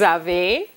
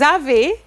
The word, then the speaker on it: avez: Vous avez.